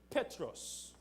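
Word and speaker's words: Πέτρος: in the Greek language the word Peter is pronounced Petros and Petros slightlys is a masculine known denoting a small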